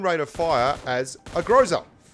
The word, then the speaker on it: Groza: But the gun's got the same rate of fire as a Groza. A Graza, as it's correctly pronounced, apparently, by people who, you know, speak Russian and stuff.